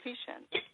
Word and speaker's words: Vishen: I thought they called him Vishen. Vishen, okay. Vishen, okay.